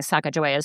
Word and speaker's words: Sacagawea: There are a lot of potential pronunciations and this is what fascinated me most about writing and researching Sacagawea's story here. And you can tell by my pronunciation that I'm going with the Northern Shoshone version of her history.